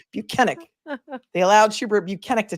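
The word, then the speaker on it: Bukhenik: allow Trooper be buenik we've learned to pronounce his name proper because he told us he was not Michael Proctor he told us that his name is buenik they allowed shu buenik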